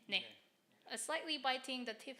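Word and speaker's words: 네: um Koreans say there to every question ne what's the meaning it means yes yes or I'm hearing I'm listening to you okay ne it's more like I know it sounds like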